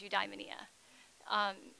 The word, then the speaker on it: eudaimonia: studies professor and so the Greek way of saying is you die Minea just so you know